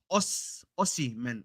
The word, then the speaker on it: Osimhen: he says it's pronounced o oy man oy man o a Aus I just read the I see the H and the H is silent so H is silent